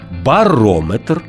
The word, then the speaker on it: барометр: запам'ятати ще один нюанс якщо компонент метр містить назви вимірювальних приладів то наголос там незмінно припадає на голосний звук що передує цьому компонентові барометр спідометр термометр дозиметр А тепер уважно послухаймо